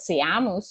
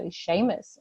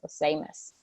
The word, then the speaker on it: Seamus: did I precursor and I have found out that it is actually not see a mouse or anything like that so Seamus Seamus then what else do